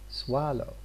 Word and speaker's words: swallow: Here we have got two syllables in this word, swallow. But which syllable do we stress in here? Here we stress the first. The second one is unstressed.